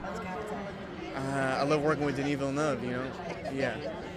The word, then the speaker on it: Denis Villeneuve: And the way you say his name, you say it properly. I love that. Yeah, I know, the French, although he's French-Canadian, but somehow it kicks in.